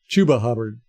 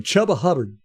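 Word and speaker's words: Chuba Hubbard: chubba Hub chuba hubard why why he doesn't pronounce his name chubba I will never understand because it just rolls right off the tongue right off the tongue chubba hubard is is much better than chuba hubard chuba h b DAV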